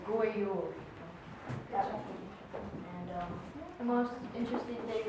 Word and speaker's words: God jul: We're doing Christmas in Norway, and how you say Merry Christmas in Norway is God Jul. But it's weird because it's God Jul, but it says, you pronounce it as God Jul.